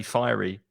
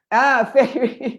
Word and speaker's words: Fairy: Fairy liquid, which is interesting because in Spanish pronunciation, you say fiery. Fairy. But we say fairy because fairy is other in Spanish.